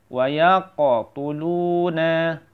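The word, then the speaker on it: يَقْتُلُونَ: Wa yaqtuluna, wa yaqtuluna. Insyaallah paham ya. Wa yaqa, ada huruf qalqalah di tengah-tengah namanya qalqalah sughra ya. Wa yaqtulu, lu-nya panjang juga.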